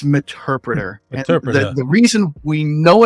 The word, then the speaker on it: Meterpreter: help hear people say meterpreter meta Predator it's meterpreter the reason we know it's an interpreter is because it is a combination of Metasploit and interpreter it is the Metasploit